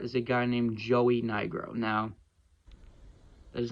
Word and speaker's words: Nigro: All I'm going to say is, instead of Nye, pronounce it Knee, and then put the other part of his last name together, and you get a racial slur.